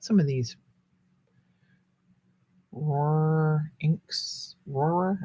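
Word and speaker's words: Rohrer: of these or inks aurora that's how they're pronounced r o h r e r r ror that's like trying to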